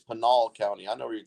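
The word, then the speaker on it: Pinal: I know he's from No it's it's not Peno count it's panol County I know where you're talking about it's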